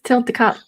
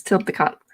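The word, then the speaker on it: Tliltocatl: well the thing is tilt the cop it's how you actually supposed to pronounce it it's tilt the cop uh the l is mostly silent it's like chipotle um the you could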